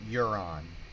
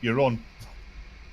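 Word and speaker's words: Euron: hang on hang on there's a character named Huron yep yes Jerrod yeah it's your turn you're on e e you are o n I believe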